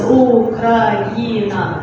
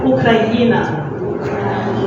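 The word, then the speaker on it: Україна: I would just write it down, it's a bit long, so it's going to be Ukraina. Do you see it? So it's Ukraina. Once again, Ukraina.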